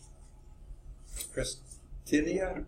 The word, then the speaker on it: Christinia: And it's Christinia, is that how you say it? Yes. Okay. Yeah, I forgot to circle these. Oh, Christinia.